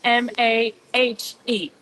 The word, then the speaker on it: Mahe: Not the Jewish ha, right? Not Mah. Right. Mahe, like M-A. You would spell it in English M-A-H-E. Mahe.